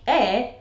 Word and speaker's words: eh: So "eh" is often said as two syllables, like "eh."